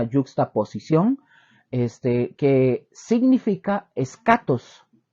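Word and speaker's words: ἔσχατος: posición este que significa es catos se escribe eschatos esch con ch eschatos o es catos esta significa últimos postreros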